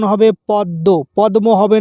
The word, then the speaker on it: পদ্ম: উচ্চারণ হবে পদ্য। পদম হবে না। পদ্য। ম ফলার জন্যে দটা ডবল ধরতে হবে।